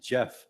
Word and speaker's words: GEF: Superwoman from Japan running I always say Jeff but I never is that how you say it yes that's why the Global